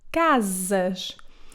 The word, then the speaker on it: casas: It can also sound like Z if it comes between two vowels as the first S in the word casas.